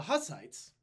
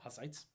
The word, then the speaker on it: Hussites: The Hussites, or Hussites, depending on how you say it, but I call them Hussites. That's the Anglicanized version.